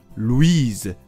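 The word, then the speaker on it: Louise: にがついて語尾の s を発音するルイーズが女の子の名前です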